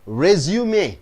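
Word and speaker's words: résumé: as a buy data resume you pronounce it as resume it is a noun it's a three syllable you first is the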